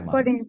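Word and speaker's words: foreign: a for for Country the G is forign country mhm yes I I I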